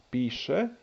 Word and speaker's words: piše: So, for example, pisati, pisati, piše, plesati, pleše. S goes to sh.